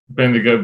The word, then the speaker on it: Bendigo: Then am I pronouncing this right? Bendigo Braves. Is that correct? Bendigo Braves.